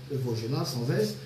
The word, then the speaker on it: Vaugelas: Vaugelas, ça s'écrit avec S, mais ça se prononce Vaugelas sans S.